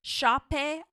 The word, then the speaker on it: Sope: Her name is spelled Sope. It's her first name, and last name is Aluko. And she says it's Shape Aluko, which is beautiful.